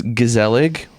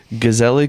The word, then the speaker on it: Gezellig: us tonight yeah so this is gazel we're pretty sure we're pronouncing that correctly gazel Brew Brewing Company out